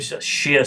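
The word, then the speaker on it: Xia: recognize as the the Shia period Shia spelled with an X um and this is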